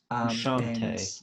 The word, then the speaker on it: Frusciante: records, like recognizable collaborators like Flea and John Frusciante. I think that's how you say his name. Frusciante. Yeah, Yeah. Frusciante, but Yeah. we can forgive the Kiwi for mispronouncing yeah.